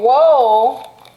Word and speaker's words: woad: And then woad, or woad, I don't know if I'm saying it right. Woad, like toad, that's how it's spelled, but with a W.